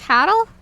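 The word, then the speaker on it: Hadal: So it's pronounced Haddle. I've been pronouncing it Hel this entire time and it's pronounced Haddle.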